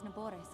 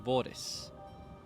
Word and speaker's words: Naboris: Unfortunately, I cannot appease Naboris on my own. Naboris, I have no choice. I've been saying it wrong this whole time. Naboris, I'll tap the R from now on.